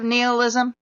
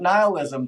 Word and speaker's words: nihilism: Haven't you ever even heard of neilism? I pronounce it nihilism, but yeah.